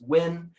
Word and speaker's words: Nguyen: last name there is which is win uh pronounced like win a ball game it's n-g-u-y-e-n add an